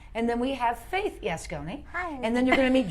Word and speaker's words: Yascones: a teaser it's she's saying it right it's yes Connie yes yes Connie but we say yes no we got we